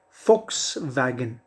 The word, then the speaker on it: Volkswagen: example if i say v-o-l-k-s-w-a-g-n people often often pronounce it as volkswagen volkswagen so there are different pronunciations but the bang on pronunciation is the correct pronunciation is fox wagon it's a german company of course that manufactures